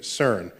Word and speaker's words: CERN: of the CERN collaboration so CERN is how you pronounce the word which I think in